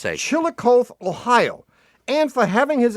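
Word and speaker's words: Chillicothe: Chilikoth. Is that how you pronounce that? Yeah, I would say Chilikoth, Ohio.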